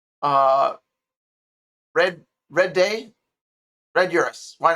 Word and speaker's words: Urus: Lamborghini Urus. That is the proper pronunciation.